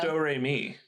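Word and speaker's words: Domrémy: in, I think it's Domremy, France? Yeah, Do Re I'm going to Mi. butcher. I never talk No, French. it's so Do Re Mi. I'm not kidding. That's how it's said.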